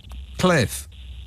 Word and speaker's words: Cliff: Your name is Cliff with 2 Fs, which is pronounced Cliff.